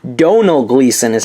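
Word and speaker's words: Gleeson: of my ex machina review I said his name wrong don't know Gleason is how you say his name there you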